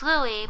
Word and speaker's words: Louis: His name is Louis, but it's spelled Louis.